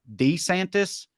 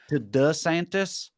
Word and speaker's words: DeSantis: DeSantis me too uh apparently there's some debate from the man himself on how to say his name and it seems to be unclear I guess for a long time he went by D like d santis but then he like changed the pronunciation the santis right but he's gone back and forth on it and there's some reports that the change of deed to Da Santos is a strategic